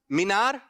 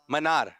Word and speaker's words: منار: اب سنیے، کچھ لوگ کہہ رہے ہیں مینار اور کچھ لوگ کہہ رہے ہیں منار. صحیح تلفظ کیا ہے؟ منارہ. کیا ہے؟ منار.